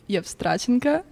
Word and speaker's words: Evstratenko: So it's originally from Belarus, and you say Evstratenko. And then because like I lived in Israel too, people would say Evstratenko.